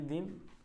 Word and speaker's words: दीन: इसको बोलोगे दिन। मतलब दी पे ज्यादा जोर नहीं दोगे। इसमें क्या बोलना पड़ेगा आपको? दीन। ठीक है? यानी कि ई को थोड़ा लंबे समय तक बोलना पड़ेगा।